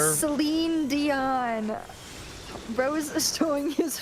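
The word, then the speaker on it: Celine: Um Selen can she's a great singer and she can train as much as she wants.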